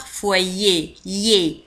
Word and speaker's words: foyer: un foyer le foyer Y E R تنطق foyer ي ولاحظوا كذلك على أن R في آخر الكلمة لا تنطق لا نقول foyer le